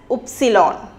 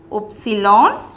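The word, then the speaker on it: Ypsilon: we are moving to Y and Y is pronounced as epsilon it is safe as epsilon and for example Hyuk Hyuk V is pronounced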